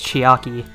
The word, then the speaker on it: Chiaki: Am I saying her name wrong? They all pronounce her name as Chiaki.